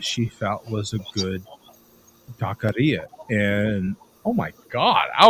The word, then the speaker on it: taqueria: So it's technically taqueria. It's not taquera. It's taqueria.